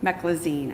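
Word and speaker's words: meclizine: Um I'm not going to pronounce this correctly. Me e c l i z i n e. Meccloine. Mecclazine.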